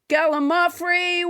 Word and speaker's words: gallimaufry: Let's never forget Gallimaufry, which I used to pronounce wrong until nobody James Hyder corrected me.